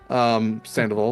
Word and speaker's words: Sandoval: Sandoval is how you pronounce it. Sandoval is how you spell it.